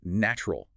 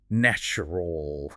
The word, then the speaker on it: natural: The t and the u combine to create a ch sound. Native speakers pronounce it as natural.